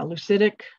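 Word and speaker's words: leucistic: Leucism? Yes. Or leucitic? Yeah, leucitic.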